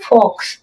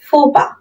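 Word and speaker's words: faux pas: ইউ এক্স মনে হচ্ছে এর প্রনান্সিয়েশন হবে কি ফক্স ফক্স আর এটা এটা এখানে প বানানটা হবে পি এস পস কিন্তু এর প্রনান্সিয়েশন হবে ফোপা ফোপা কি হবে ফোপা হবে ফোপা ফোপা ঠিক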